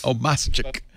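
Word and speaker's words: Obmascik: It's Obama with a chick at the end. See, how your brain trips you up. So, Obama. I know how. No, it's not Obama.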